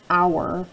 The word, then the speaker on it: hour: category or oh you to make that owl sound like an hour right there we have a silent H and that word extra